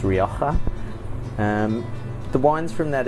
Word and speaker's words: Rioja: called rioka um a lot of people say rja but it's pronounced rioka um the wines from that area tend to